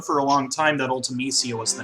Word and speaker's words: Ultimecia: The reason I pronounce it Ultimecia is because one of the letters that you can follow a C with and get a soft C sound is I.